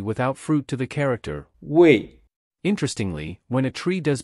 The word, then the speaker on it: 未: This connects the imagery of a tree without fruit to the character, Wei.